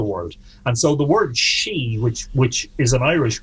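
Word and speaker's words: sídhe: and so the word she which which is an irish word in old irish as i father d uh pronounced like the word she as in feminine um they are portals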